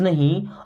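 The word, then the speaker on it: know: है मैं डोंट मीस नहीं नो मीस होता है जानना इस नो वर्ड में के साइलेंट होता है के के बाद कभी एन आ जाएगा ना तो के साइलेंट रहेगा कुछ वर्ड आपको बता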